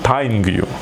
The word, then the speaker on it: тайниг ю: А вот по-чеченски кукла будет тайнгю. Да? Тайнгю. Тайнгю. Вот смотри, тайнгю пишется вот так, и вот такая куколка там, видишь?